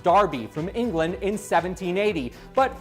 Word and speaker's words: Derby: back to the original Derby pronounced Darby from England in 1780